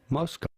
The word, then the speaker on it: Moscow: How do you go about pronouncing it? Moscow, Idaho. Moscow.